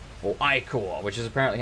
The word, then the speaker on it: ichor: 4 gold, an iron axe of shock, and 2 ichor. Or ichor, which is apparently how you say it.